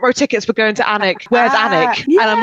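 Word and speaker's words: Alnwick: gonna say it's pronounced anic the L is silent and people get really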